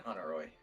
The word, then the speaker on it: Honoroit: Honoroit and Londis? I'm pretty sure you don't pronounce the T in Honoroy.